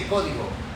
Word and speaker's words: Código: In Spanish, we say Código, but if Spanish is not your native tongue, which I completely understand, and that's fine, we're not all perfect.